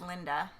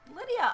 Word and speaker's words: Lydia: And people always mispronounce my name as Linda. I get Linda a lot.